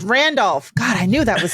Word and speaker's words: Randolph: wrong before I like is it not Rudolph it's Randolph God I knew that